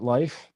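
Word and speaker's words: Leif: it's carmen's ex-husband is named leaf but he pronounces he pronounces it life so his name is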